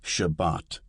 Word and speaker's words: Shabbat: An example is Shabbat, Sabbath, with the accent on the second syllable.